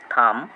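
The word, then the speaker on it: thumb: যখন no knife নি be silent lamp কোম থাম এইট সাইলেন্ট অনেস্ট আওয়ার ইয়ার ডিজির উচ্চারণ বর্গিত জ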